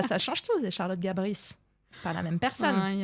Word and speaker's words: Gabris: Moi, je préfère le tennis de table, Charlotte Oui, c'est bien le Gabri. tennis de table. Alors, C'est je vais te trop dire bien. quelque chose. C'est vraiment... Allez. On dit Charlotte Gabris.